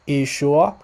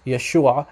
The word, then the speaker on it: Yeshua: So in some dialects of Aramaic, it's pronounced Yeshua. In some dialects, it's pronounced Yeshua, just like in the Hebrew. So the Western dialect of Syriac, the Western Aramaic dialect, it's pronounced Yeshua, very similar, actually identical to how it's pronounced in Hebrew.